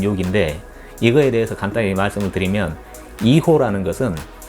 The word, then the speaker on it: hijo: 이거에 대해서 간단히 말씀드리면 이고 라는 것은 스펠링이 hijo 예요 그런데 스페인어 에서는 h 가 묵음 입니다 그리고 제이가 치유 빠름